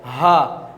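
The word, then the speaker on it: ه: Yes, this one is Ha, and you have to pronounce this one from the starting point of the throat, Ha, Hamza and Ha.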